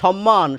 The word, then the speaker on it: সম্মান: অর্থাৎ এই যে আমি বলছি সম্মান সম্মান স সে স হচ্ছে এই স।